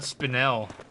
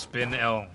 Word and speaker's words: spinel: Is this PR is this is this also pronounced spinal? It doesn't have two ends. So it's not spinel or spinnel. Blah. The dying sound effect. It's pronounced spin L.